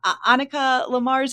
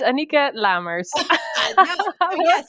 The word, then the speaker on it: Anieke Lamers: to see if I got it right uh Annika Lamar's is that correct it's Anika Lammers right and I even asked you beforehand I